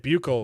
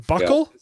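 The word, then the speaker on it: buccal: It's pronounced buckle by buckle fat. I've been saying bugle.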